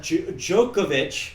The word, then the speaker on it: Djokovic: Let's see if I can pronounce it. Okay. Go ahead. Djokovic.